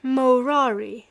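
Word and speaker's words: morari: that he had ceased murari amongst men pronouncing the first syllable long and treated as null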